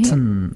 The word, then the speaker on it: cotton: cotton 하지 말고 cotton. cotton. 네, cotton. 카음.